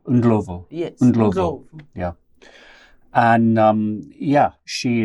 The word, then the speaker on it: Ndlovu: My other co-chair is Stephanie Ndlovu. And I have struggled. I'm so sorry, Stephanie. I know I get your surname wrong. It's your married name. You've just had a kid. Ndlovu. Ndlovu.